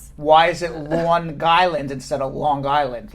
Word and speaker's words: Long Island: Brad, the place where you grew up is not Long Island, okay? It's Long Island. Right. That's how I pronounce it. The G's on the second. Yeah. The G's on the second word.